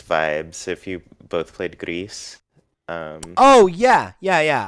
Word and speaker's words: Gris: differently yeah is it gree is it greece is it gris i think because it's uh a team from barcelona right so i i lean toward it being more spanish pronunciation that's probably correct